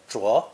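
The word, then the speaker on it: 著: those 4 ways, but it must be used for the meaning of books and writing, and pronounced 4th tone, zhu. Here's what I hope you've learned in today's lesson.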